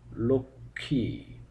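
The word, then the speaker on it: লক্ষ্মী: হয়ে থাকে যেমন সূক্ষ লক্ষী লক্ষণ প্রতিটি ক্ষেত্রে ম ফলার উচ্চারণটি বাদ গিয়েছে বটে তবে শেষে একটি আনুনাসিক স্বর যুক্ত হয়েছে তো আমাদের আজকের আলোচনা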